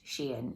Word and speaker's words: Shein: it sounds nicer but I've seen enough YouTube adverts for it to know that it's pronounced Sheen so not everything has